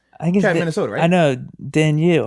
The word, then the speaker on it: Danielle: yeah i think uh daniel yes that daniel uh hunter the um i guess minnesota i know dan you i think that's what it is it's pronounced a little different i was i was